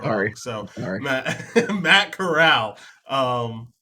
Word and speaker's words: Corral: I think that see Kai is saying it's Corral, not Coral. We're saying it wrong. Sorry. So Sorry. Matt Matt Corral.